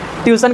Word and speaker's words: ट्यूशन: हाँ उच्चारण गलत कर देते हो, स्टेशन को टीशन बोल देते हो, ट्यूशन को टीशन बोल देते हो। नाम क्या है? ट्यूशन। क्या बोलते नाम होता है? ट्यूशन होता है ना, तुम लोग बोलते हो।